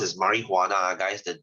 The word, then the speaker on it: marijuana: LSD and you have your marijuana this is pronounced as marijuana guys the J is HR because it's a